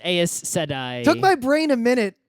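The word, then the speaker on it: Aes Sedai: I know how say I'm pretty sure it's eyes today I don't know how to pronounce anything but it my brain is always says as sedi took my brain a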